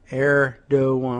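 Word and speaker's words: Erdoğan: of England okay uh erdogan huh that's the pronunciation artist air doe one let me take a look at that side by side with the the spelling erdogan huh now no G in that song all right well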